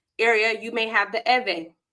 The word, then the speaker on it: Ewe: um in Volta area you may have the e right um or a lot of Americans will say e because it's ewe but it's pronounced e so each region has their people